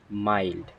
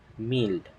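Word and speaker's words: mild: ডি যেটাকে আমরা প্রায়ই ভুল বলে থাকি এটার উচ্চারণ হবে মাইল্ড নট মিল্ড এবং বামি এর অ্যান্টোনিম হচ্ছে সিভিয়ার ইটস নট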